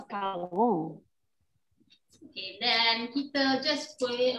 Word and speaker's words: macaron: How do you pronounce it? Macaron. Macam Eva Peron. Yeah. Macaron.